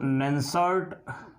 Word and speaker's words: Nernst: नन्स्ट equation है, इसको नन्सर्ट समीकरण के नाम से भी जाना जाता है, लेकिन प्रोनाउंसिएशन में इसको नन्स्ट इक्वेशन ही बोला जाता है।